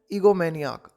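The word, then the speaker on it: egomaniac: एंड इफ़ यू आर एन ईगोमैनियाक, ये देखो यहाँ पर इसका फोनेटिक कैसे इसको प्रोनाउंस किया जाएगा, ई गो मैनियक, ईगोमैनियाक, तो ईगोमैनियाक, एंड इफ़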